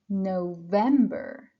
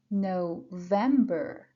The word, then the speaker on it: November: one is September September then we have October October you see I push and stress I put the pressure on the second syllable then we have November November and finally December December